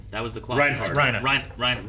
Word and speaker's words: Reiner: You can say it with the hard R if you want. Reiner, You never do.